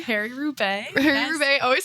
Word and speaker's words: Roubaix: Do they do the Harry Rubai? Harry Roubaix.